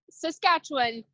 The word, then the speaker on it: Saskatchewan: you say it how do you say it Saskatchewan okay I said it right I got you